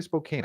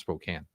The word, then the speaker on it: Spokane: Spokane Police Department Spokane why did I say Spokane I know it's said I know it's pronounced Spokane that's weird the Spokane Police Department announced the